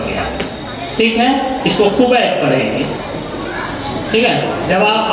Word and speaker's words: خبیب: ٹھیک ہے, اس کو خبیب پڑھیں گے. ٹھیک ہے, جواب آپ کا صحیح ہے, بس صرف تلفظ میں فرق ہے تھوڑا سا.